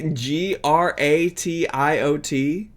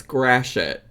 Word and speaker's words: Gratiot: That's how you say Gratiot? Grashit? You said it right the first time. You said it right the first time. Which time? The first time I pronounced it, I said Gratio. It's Grashit.